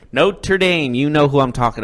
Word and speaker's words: Notre Dame: and being independent on note you're dumb that's the Hunchback it's Notre Dame okay happy I said it right Notre Dame you know who I'm